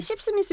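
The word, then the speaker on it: Sipsmith: 아니 십스미스 이게 발음도 좀 재밌고 이게 십스미스. 십이라는 게 약간 이게 그거 아니에요? 한 입씩 홀짝홀짝. 홀짝거리다. 아 그래요? 씹이 아니고 씹. 아. 저러면서 너무 오다 이런다. 쌍시옷 넣지 말고.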